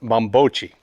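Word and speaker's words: Bambocci: in Italian in here but actually he's right this is actually pronounced mambocci the bombochi furniture style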